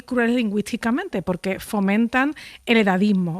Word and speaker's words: edadismo: Se dice edadismo con 2 Ds, no se dice edaísmo, tampoco, aunque se dijo en un tiempo ageísmo, de age en inglés, aunque desde luego este edadismo está reproduciendo una palabra del inglés, ¿no?